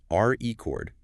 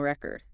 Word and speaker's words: record: like a vinyl record. But if you emphasize the second syllable record, the brain categorizes it as an action to record a podcast or a deep dive rather.